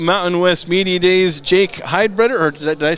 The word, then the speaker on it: Heidbreder: Jake Heidbreder, or did I say that right? Heidbreder, but it's close enough.